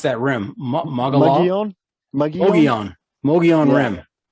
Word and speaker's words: Mogollon: a cold night on the how do you pronounce that rim? Mogollon Rim. It's named after, I want to say, the first governor of the territory or something. It was a conquistador, I believe. Okay. Anyway, the Mogollon Rim is the southern edge of the Colorado